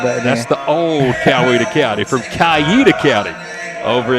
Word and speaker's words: Coweta: Coweta County. Say it again. Coweta County. Coweta. Now, if you're really from over there a long time, you might hear people say it Caida.